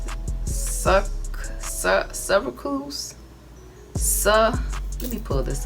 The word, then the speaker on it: sucralose: tea okay so i sell how do you pronounce it suck cervicals so let me pull this up i ain't never been able to say it right but that's all right sucralose sucker loose s-u-c-r-a-l-o-s-e okay that's it's clear oh here i